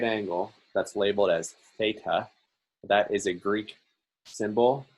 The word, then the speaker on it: theta: angle that's labeled as theta that is a greek symbol it's spelled uh t h e t a uh in english but it's pronounced theta and so theta is